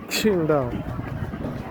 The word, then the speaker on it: Qingdao: Parce que le Q se prononce Ksh. Qingdao.